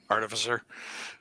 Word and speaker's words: artificer: Artificer. Three completely different pronunciations of that word.